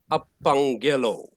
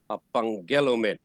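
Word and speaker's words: ἀπαγγέλλω: it together it's up so that gg makes it a ng apangelo but now you must check where's the accent it's on the girl men a pangelo all right later on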